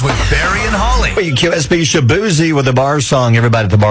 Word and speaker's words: Shaboozey: Now, his name on radio is with Shaboozey, which tells you to say Shabuzi.